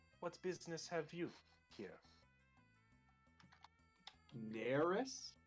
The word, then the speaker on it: Neris: flowers i am you are hello i am neris what uh what business have you here nerus how do i spell that n-e-r-i-s oh nailed it sorry what can